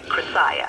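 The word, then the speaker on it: Crussiah: Chrisiah.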